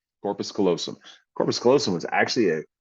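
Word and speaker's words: corpus callosum: them right as you possibly can uh but Corpus kosum was an answer although the girl got it wrong because she mispronounced it she said Corpus colum she added a te in there and so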